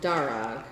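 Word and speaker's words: Darragh: Darog.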